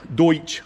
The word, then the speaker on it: Deutsch: connectors in i said it right that time deutsch it's my deutsch connectors and i got to